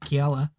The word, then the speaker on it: Kiala: Kiala. Yeah, too. He said it right. Did you hear that? Kiala. I've been practicing.